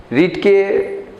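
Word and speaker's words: read: তাহলে আই, উচ্চারণটা চেঞ্জ করো, রেড হবে। আই রেড the book. বানান কিন্তু একই হলো, তাই না? রিডটা যদি পাস্ট হয়, উচ্চারণটা রেড হয়ে যায়, তাহলে আই রেড দ্য বুক।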